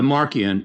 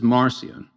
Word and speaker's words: Marcion: refers to him as Marcion. Okay. But I don't know why the soft C because in Latin it would be a a hard C. So it's Marcion, right?